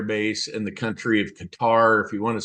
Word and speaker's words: Qatar: in the country of Qatar if you want to say it properly it's actually pronounced katar you put the emphasis on the first syllable so my job I